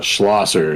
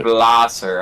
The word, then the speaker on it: Schlosser: Hey, it's Schlosser is how you say it. Schlosser.